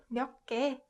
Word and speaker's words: 몇 개: So it puts more emphasis on 기역. So this word should be pronounced 몇 개, 몇 개.